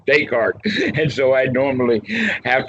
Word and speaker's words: Descartes: This would be the time to mention the philosopher Descartes. Now, when I read him when I was in high school, nobody knew enough French to know that his name was not Descartes. It is actually Descartes.